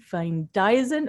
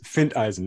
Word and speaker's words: Findeisen: his name is Friedman find Eisen oh no I butchered it I butchered it Fink didn't dice okay you tell me what it is it's fint Eisen and I would have